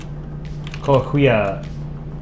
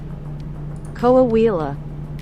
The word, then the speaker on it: Coahuila: And Kohuya, I'm probably mispronouncing that. Kohuya State? Kohuila? Kohuya? Detect language. Coahuila.